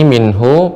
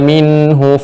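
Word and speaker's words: منه: Nah di sini minhu pendek tidak panjang jadi harus cepat dibacanya. qul innal mautalladzi tafirruna minhu fain minhu fain demikian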